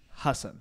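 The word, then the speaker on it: Hasan: But Ellen, my name's actually pronounced Hassan.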